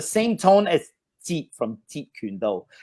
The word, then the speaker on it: Jeet Kune Do: Jeet is the lowest tone. Jeet Kune Do. That's actually all on the lower level. There's no high tones. Jeet Kune Do.